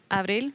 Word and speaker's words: Abril: It's Abril, but if you can't say it, Abril. There's no April. chance I'm going to say it that way. Yeah, you have to roll your R's.